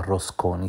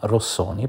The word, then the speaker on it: Rossoni: Sebastiano non si chiama Rosconi, si chiama Rossoni, però vabbè, un errore di pronuncia può capitare a tutti.